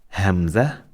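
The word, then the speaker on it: همزة: our Prophet sallallahu alaihi wasallam, Hamza ibn Abdul al-Muttalib. But Hamza is different. Is the name of this letter. Right? One more time. Hamza, Hamzatun, Hamza.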